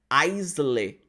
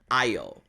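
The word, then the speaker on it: aisle: essa palavra ela significador se a gente for pronunciar da mesma forma com que a gente pronuncia no português a gente vai pronunciar como isler isler é assim que eu pronúncia em português só que no inglês a gente não pronuncia icele a gente pronuncia como ai oh ai oh por exemplo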